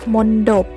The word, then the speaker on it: มณฑป: ว่า บัณฑิต นะ คะ มณฑป อ่าน ว่า มณฑป หมาย ถึง สถาปัตยกรรม อย่าง